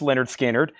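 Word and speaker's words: Lynyrd Skynyrd: This is Leonard Skinner pronounced Leonard Skard.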